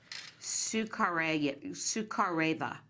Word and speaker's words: Sukhareva: How did you pronounce her name? Sukhareva.